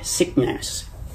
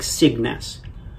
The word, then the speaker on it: Signes: But anyway, it's kind of like a hard G, sickness. But it's not sickness, it's more like Cygnus.